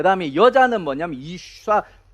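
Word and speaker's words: אִשָּׁה: 이쉬라고 하는 말이고 그 다음에 여자는 뭐냐면 이샤, 이 발음이 좀 어려운 쏴, 예. 쉬에다가 아가 붙어야 돼요.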